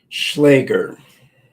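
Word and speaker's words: Schläger: Offensive Schlagger is offensive.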